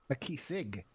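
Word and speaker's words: Makisig: my name is uh makisik um so out of character it is spelled m-a-k -i-s-i-g a key Sig yeah is the most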